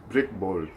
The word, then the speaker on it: Brickbol: would say Brickbol, Brickbol, because I use a long E sound in the first syllable and a long O sound in the second syllable. So it's Brickbol.